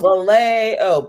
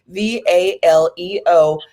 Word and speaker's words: Valeo: And I want to make sure that people see that Valeo is spelled Valeo, because I hear the A and it's like, oh, Valeo, but no, it's actually Valeo, and that means to be well.